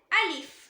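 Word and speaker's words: ألف: இப்போ first letter அலிஃப். அலிஃப் இந்த லெட்டரை வாய்க்கு உள்ள காலியான ஒரு ஸ்பேஸ் இருக்கும் பார்த்தீங்களா, அங்க இருந்து உச்சரிக்கணும். அதாவது த்ரோட் மவுத்தோட எம்டி ஸ்பேஸ்ல இருந்து ப்ரொனவுன்ஸ் பண்ணணும்.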